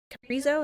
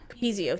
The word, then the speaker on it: Capezio: group we wear uh Capo is that how you say it uh oh capio Capezio thank you I always say it wrong yeah I was like